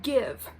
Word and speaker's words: GXVE: Her brand is spelled GXVE. It's pronounced Give.